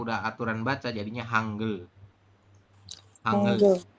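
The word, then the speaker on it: 한글: Hangul. Oke. Masih Hangul ya. Nanti kalau udah aturan baca jadinya Hangul. Hangul. Bukan hang.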